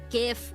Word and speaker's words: GIF: GIF because it's correct. The G and GIF stands for graphics.